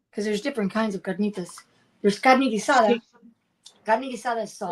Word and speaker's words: carnitas: We had um how do you say can carolenas carnas? Carnitas.